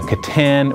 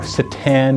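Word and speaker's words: C'tan: We're going to look at the different configurations of wraiths, of the Catan or Citan, depends on how you want to say that. There's no official pronunciation for that.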